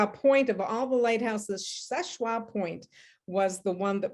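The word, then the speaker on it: Seul Choix: story of szechua and people call it soul something but it's actually french and it's spelled it's pronounced szechua there was some lighthouse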